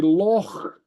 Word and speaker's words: loch: So you say loch with the heavy guttural, loch, you know, as in lake, loch, you know.